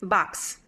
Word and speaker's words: box: that letter X Box it's like the K and the S right that's it that's your first option K and S box often when I see letter X it's right it's two sounds is not its own thing yes exactly box box